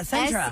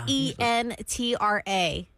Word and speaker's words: Sentra: Not Sinatra. I know. Literally, I said it five different times. Spelled with an S. Yeah. Sentra. S E N T R A. Sentra.